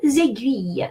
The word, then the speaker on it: aiguille: So, first you need to know that G followed by U is pronounced G and not J. And then U. So then U and E is one of the diphthongs in French that is the hardest.